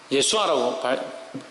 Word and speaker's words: 여호수아: 그 여호수아는 제가 저번에도 말씀드렸는데 여호수아는 예수아라고 발음되죠.